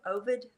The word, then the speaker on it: Ovid: So what happened was, there was a famous Roman poet, Ovid, I think that's how you say his name, O-V-I-D.